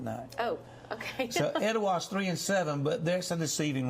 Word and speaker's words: Etowah: Etowah, you said it right.